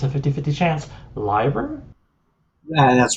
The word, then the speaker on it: Leiber: strung them together, usually like I hope I'm pronouncing this correctly. It's a 50-50 chance. Liber?